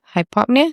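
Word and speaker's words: hypopnea: Hypopnia. Is that how you pronounce it?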